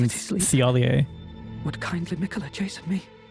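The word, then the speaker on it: Thiollier: I used to pronounce it Tiolier too, but someone called him Thiolier.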